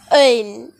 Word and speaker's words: œil: It is œil in French. How am I pronouncing it?